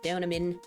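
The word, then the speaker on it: Deauxnim: We still don't know pretty much anything about Ellie's Danamin. Ah, I said I think I said her name right this time. I remember someone always pointing out that the X is silent. So damin uh don't know enough about her still.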